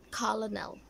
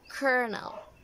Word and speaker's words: colonel: 3 this one is it's not Colin L it's Colonel how about this how